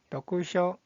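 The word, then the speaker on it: 読書: 자, 독서라는 뜻을 가지고 있는 이 한자의 발음은 도쿠쇼, 도쿠쇼.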